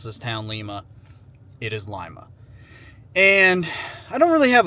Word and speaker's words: Lima: Ohio and that is Lima Lima Ohio not pronounced Lima please do not pronounce this town Lima it is Lima and I don't really have a total game